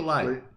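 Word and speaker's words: Leigh: Last night, Lee Sales, what's her name? Is it Lee or Lay? I think it's Lee. You think it's Lee I've Sales? heard it pronounced as Lee.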